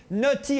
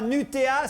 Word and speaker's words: Nutty: Le clip de notre invité, puisque le 30 mars est sorti le nouvel album de Nutty. Oui, ça se prononce Nutty et pas Nutea, sinon ça fait pâte à tartiner.